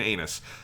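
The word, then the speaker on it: Ainus: like i like captain anus that is her name it is anus i it's it's a-i-n-u-s but it is just in japanese it's just anus her name is captain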